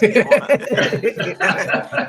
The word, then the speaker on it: Demola: But you say Demola, so long as you're pronouncing these old syllables right, Demola, that's you good.